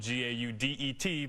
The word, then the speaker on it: Gaudet: Remember, it's spelled G-A-U-D-E-T, but it's pronounced Gaudet.